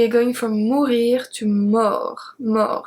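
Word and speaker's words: mort: going from movie to more more so we don't pronounce the t more so basically the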